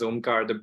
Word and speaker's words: Omkar: everybody my name is omkar the best way to pronounce my name is the first two letters om right every time you say it you meditate uh so my background